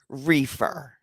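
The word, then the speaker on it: Reifer: called my thank you my maiden last name was reefer r-e-i-f-e-r pronounced reefer so you tell me as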